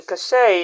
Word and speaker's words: cachet: Cachet. Now let's make a sentence using the word. The brand has a certain cachet among celebrities. The brand has a certain cachet among celebrities.